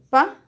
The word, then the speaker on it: pájaro: Recordamos las esdrújulas, dice, tienen el acento tienen el acento en la antepenúltima sílaba. Esta es la última, penúltima y antepenúltima, antes de esta, antepenúltima. Y si se dan cuenta, tiene una tilde. Entonces ahí es la mayor fuerza de voz.